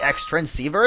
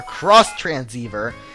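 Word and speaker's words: Xtransceiver: with all that the ex transceiver is ringing or cross transceiver as everyone says it's pronounced I don't know why they would do that it's like Digimon cross wars being spelled X Wars so I don't know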